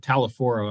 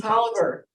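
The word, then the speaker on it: Taliaferro: Anyway, Mark, pardon me? Tolliver. It's a Virginia thing.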